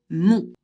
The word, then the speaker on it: mon: O et N, ça fait on. Donc, on prononce le possessif masculin de je, mon.